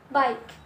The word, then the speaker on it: bike: Kemudian bike.